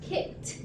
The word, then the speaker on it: kicked: Here, kick ends with K, so it's going to be pronounced kicked.